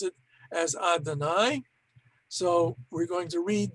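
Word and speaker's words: Adonai: to be all right so we're going to pronounce it as adanai so we're going to read these three words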